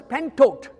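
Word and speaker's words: πάντοτε: You know, the word always in Greek is pronounced as pentot.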